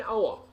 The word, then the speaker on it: hour: The O is a vowel, so we say an hour. We have a vowel sound, hour. We have a vowel sound, an hour. The consonant H is silent.